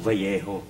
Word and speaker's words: Vallejo: Kasi dito sa Vallejo, pag double L, ang pronunciation ng Vallejo. Oh, bakit Vallejo?